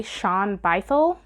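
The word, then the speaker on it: Shaun Bythell: Laura Bates the Diary of a bookseller by Sean bycel yeah that's how you say it misty Copeland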